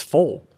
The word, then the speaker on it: FOIL: So they called it the FOIL method. And in the South, it's FOL. Like, it's pronounced F-O-L-E, FOL. Like oil is ol, fire is far, you get different dialects.